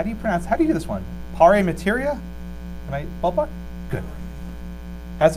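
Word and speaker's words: in pari materia: How do you pronounce, how do you do this one? Pare materia? Am I ballpark? Good. Has it? Impare materia, thank you.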